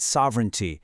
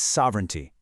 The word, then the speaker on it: sovereignty: We say sovereignty. Notice how that middle part air is almost silent. It's not sovereignty, it's sovereignty. Give it a try.